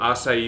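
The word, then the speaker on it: açaí: delicious and then uh we also have smooth assai smoothies oh I love so that's how you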